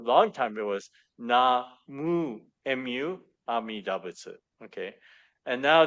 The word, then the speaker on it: Namu: And now they've changed it to Na Mo Mo Ami Dabutsu, or both are acceptable. Although that second character in the Japanese pronunciation, you can't pronounce that second character as Mo. It's Mu, Mu.